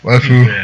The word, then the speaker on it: waifu: A really exaggerated Japanese accent on the word wife. Waifu.